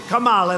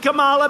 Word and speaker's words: Kamala: You know, if you pronounce her name wrong, she goes crazy. Kamala, like a comma.